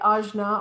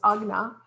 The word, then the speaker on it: Ajna: we're dealing with today ajna or sometimes pronounced agna is all about your